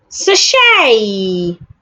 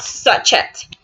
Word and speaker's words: sachet: Sachet, not sachet. The letter T is silent and the letter E makes the A sound.